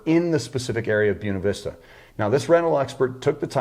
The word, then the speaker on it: Buena Vista: So what I did was I filled one out purely for this property in Buena Vista, pronounced Buena Vista by the locals.